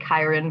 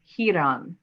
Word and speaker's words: Chiron: which we pronounce it Chiron because that is just much simpler right but the Greek pronunciation is here on right here on and